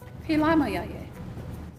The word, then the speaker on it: Philamayaye: And I forgot, how do you say thank you in Pilama yaye. Pelama Yaye?